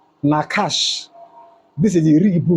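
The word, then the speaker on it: נחש: Now watch that serpent is is pronounced nakash.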